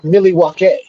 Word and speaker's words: Milwaukee: I believe it's pronounced Milwaukee. Algonquin for the good land.